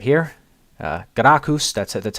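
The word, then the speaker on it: Gracchus: uh latin word right right right here uh garakus that's that's how you pronounce it because people have been uh having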